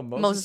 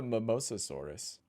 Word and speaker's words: Mosasaurus: Mosasaurus. It's in the podcast. Oh, Mosasaurus. Mosasaurus. Yeah, that's a Mosasaurus. Yes. I used to call it the Mimosasaurus.